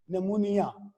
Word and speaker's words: pneumonia: He died of निमोनिया, ये spelling लिखे हुए हैं PNEUMONIA, निमोनिया।